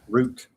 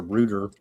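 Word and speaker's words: Rutte: Root. But I always hear him pronounce a rut. But anyway, root. R U TTE.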